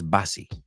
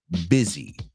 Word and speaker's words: busy: these people who says Bassy I've heard people say busy it's busy I know it should be busy because bus is B yeah but this is English busy it rhymes with Dizzy Mar buy dizzy all